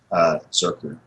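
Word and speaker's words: Zercher: So, Zerker. Is that how you pronounce it? It's German. Reich. Yeah, it's German. Zerker.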